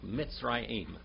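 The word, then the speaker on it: מצרים: look at that word mitzrayim can you say that brother Mike Mitzrayim miss Ryan that's how you say Egypt in Hebrew mitzrayim say that guy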